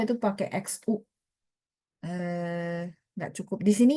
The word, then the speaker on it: 需: Itu pakai X bukan pakai S ya.